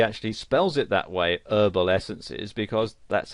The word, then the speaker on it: Herbal Essences: spells it that way herbal essences because that's how they would pronounce it whereas in british english you would pronounce the h and you'd say herbal essences and you might also